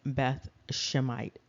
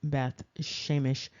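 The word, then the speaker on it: Beth Shemesh: known as Beth shemite that's not accurate that's not the way that's pronounced that's not even the transliteration of this and we're going to look a little bit more closely so you can see the transliteration but that's not it and here you can see very clearly that the translation is not Beth shemite it is Beth sheemish and then you can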